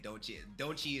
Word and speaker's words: Donchi: So like Donchi, Dante, Donchi is how you pronounce it.